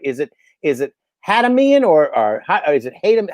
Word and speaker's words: Hatamian: the the pronunciation right is it is it hadamian or or is it him how do you pronounce it please ah it's hatamian a tommy okay yeah easier than it looks